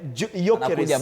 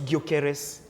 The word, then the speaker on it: Gyökeres: Those places, those players, and Gyökeres. You have to know the correct pronunciation. It's Gyökeres. Okay. Not Gyökeres. It's Gyökeres.